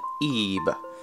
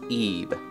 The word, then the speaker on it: Ib: we're going to be playing a game called ebah as you may think it's called it as I saw it for quite a while but it's actually pronounced Eve as I've been as my research told me